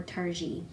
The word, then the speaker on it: Targhee: google it and found out that you do pronounce it targhee nacht RG or tarji so Targhee wool is what we're talking about